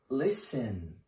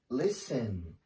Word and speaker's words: listen: pronunciation silent T so here in these words we don't pronounce the T letter let's see here the first one is listen listen my friend likes listening